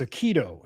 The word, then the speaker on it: Aikido: I have production in my ear telling me it's Aikido. So, I'm getting the pronunciation wrong company that I have a crush on.